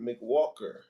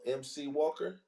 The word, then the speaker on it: MC Walker: All right, Mick Walker. You got something you want to add to the It's topic? pronounced MC. Oh, MC Walker.